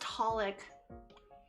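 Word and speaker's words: xxxHolic: Yeah, so I guess it's just pronounced Holic.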